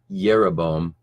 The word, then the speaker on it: Jeroboam: him King now when jeroboam and it was that it was actually his name would have been pronounced yeroboam uh yerebom the son of nabat because there's no J sound in Hebrew just as an aside